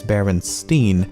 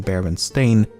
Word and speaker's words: Berenstain: anthropomorphic bears however many remember the name as berenstein and not baron stain i also find it